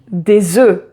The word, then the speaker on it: œufs: Mais en français, on dit un œuf, mais on dit des œufs. Donc un œuf et des œufs.